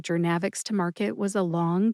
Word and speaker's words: Journavx: Gernavix has three syllables. That's jer like journey as in bringing jernavics to market was a long journey.